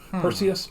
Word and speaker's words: Perseus: clash of the titans lawrence olivier as zeus pronounce it as perseus because it rhymes with zeus so perseus or perseus that's very